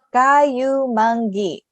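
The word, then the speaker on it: kayumanggi: Kayumangi. It's very long, isn't it? Kayumangi. 4 syllables.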